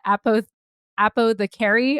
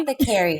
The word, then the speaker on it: Apothecary: No, Apo the Carry. Oh my gosh. I bet people are like laughing right now. They're like, that is not how you pronounce my, what is it, Nani? Apothecary.